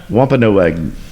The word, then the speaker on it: Wampanoag: It is a human-like creature of the Wampanoag. Did I say it right? Sure. Wampanoag tribe, and Wampanoag.